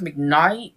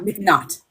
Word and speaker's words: McNaught: Now I want to say her name, Judith McKnight. Not McNaught.